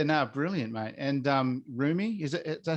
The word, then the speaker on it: Rumi: yeah yeah yeah no brilliant mate and um roomie is it is that how you pronounce it rumi yeah um reminded me of beautiful boy you